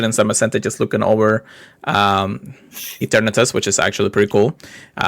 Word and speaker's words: Eternatus: Eternatus.